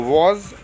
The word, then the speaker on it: was: बहुत से बच्चे क्या करते हैं, वॉज को बाज बोलते हैं और वर को वेयर बोलते हैं। ये गलत प्रोनाउंसिएशन है। यदि आप सही से प्रोनाउंसिएट करेंगे तो वॉज और वर होता है, बाज और